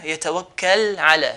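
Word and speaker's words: يتوكل على: So lam here, yatawakkal ala. Yatawakkal, how are we going to pronounce it clearly? The edge of the tongue will touch the roof of the mouth. So yatawakkal ala.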